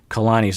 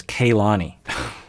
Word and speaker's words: Kalani: i am terribly sorry for mispronouncing kalani's name as kailani and i was listening